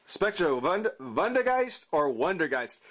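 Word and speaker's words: Vondergeist: you pronounce the v vondegeist or wondergeist spectrovund van der geist wonder geist it's all depending on how you want to pronounce that v guys it's all i prefer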